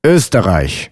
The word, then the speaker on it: Österreich: To pronounce O umlaut, all you have to do is round your lips for O while saying Österreich, können.